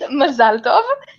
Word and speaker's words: Mazal tov: I'm saying it in a Jewish accent and not in an American accent, but yes, it's Mazal tov.